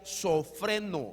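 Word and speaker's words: σώφρων: y es la que en griego se pronuncia sofren mente sofren gre ahora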